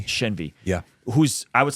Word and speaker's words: Shenvi: Shenvi.